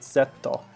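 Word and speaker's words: ゼット: They, of course, say it Zetto, without a D, more of a T sound, but yeah, it's odd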